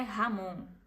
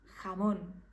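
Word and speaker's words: jamón: como um brasileiro 100% Então não é Ramon é Ramon mais suave Ramon percebam a importância de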